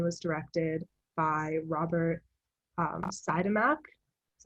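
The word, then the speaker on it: Siodmak: year 1949 and was directed by robert um cytomac that's how you pronounce it and it follows um this man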